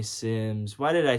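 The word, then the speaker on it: Symmes: Now, his name could be Sims or. It's spelled with a Y. I think it's Sims is my name's and it's spelled with a Y and it's I think it's Sims. I'm gonna say Sims.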